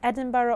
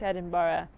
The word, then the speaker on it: Edinburgh: I always say it wrong. I know I say it wrong. Someone told me off the other day, but I say it wrong, don't I? I say Edinburgh, but I know it's Edinburgh. Edinburgh.